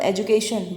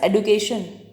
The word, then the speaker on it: education: Like हम यूज़ करते हैं word एजुकेशन, बट नाउ we pronounce the word as एडुकेशन, but still जब हम पढ़ा रहे हैं हम एजुकेशन का यूज़ कर रहे हैं।